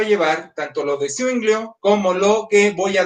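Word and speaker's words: Zwinglio: entonces empiezo con el otro magisterial, es Ulrico Swinglio. Algunos lo escriben con U z UI. Yo prefiero hacerlo con Z W o W como le dicen algunos. Z W U I N G L I O. Swinglio Ulrico.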